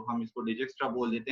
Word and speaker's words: Dijkstra: हैं तो हम इसको Dijkstra बोल देते हैं, लेकिन Dijkstra भी इसको बोला जाता है। यानी J को साइलेंट किया गया है और I को भी DE इसको कंसीडर किया जाता है, IJ को।